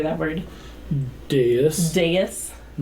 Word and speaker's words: dais: Dais.